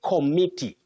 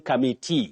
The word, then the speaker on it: committee: of kumu you say committee committee many people find themselves saying commit but there is nothing like commit in English I would repeat there